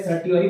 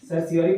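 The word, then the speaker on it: certiorari: फिर प्रोहिबिशन, जो हमेशा प्रोहिबिशन और सर्सियोरी इंग्लिश में बोला जाता है सर, ये इसको पहले सर्टियोरी बोलता था, सर्सियोरी प्रोनाउंस किया जाता है, सर्सियोरी।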